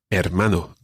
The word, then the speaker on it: hermano: first word is brother hermano good now you remember that the h is silent the h is always silent in spanish so what about the